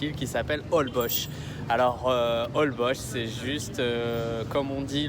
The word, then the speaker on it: Holbox: hall bosh ont dit hall poche ça s'écrit holbox h qu elle a prouvé aux x mais on prononce hall bosch à la fao voilà